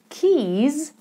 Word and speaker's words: keys: there we kissed kiss keys has a long e in the middle and voiced Z keys where are my keys